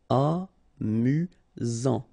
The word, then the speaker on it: amusant: You've got only one S here between the vowels, so it's really this Z sound. Amusant.